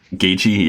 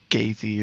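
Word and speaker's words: Gaethje: got smoked by Ichi so he pronounced it gay G have you been looking at the name and like I have no clue like I thought it was like gay fee or something not she I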